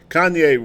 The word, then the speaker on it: Kanye: lately and it's it's about I called him Kayne West and I got a lot of people who are laughing at me it's it's Kenya what does it Ken yeah what's it how's it pronounced kanye west and i was called lib cade west